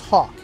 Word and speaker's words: HAWC: Today, we're diving deep into the HAWC system, pronounced Hawk, a game-changing technology that's transforming the P8A Poseidon into the deadliest submarine hunter ever built.